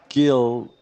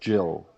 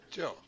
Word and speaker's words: Gil: I think they it's it says it's Gil but it's actually pronounced Jill so Jill okay uh uh this